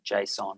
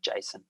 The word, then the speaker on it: JSON: javascript object notation or json or json depending how you pronounce it in the years since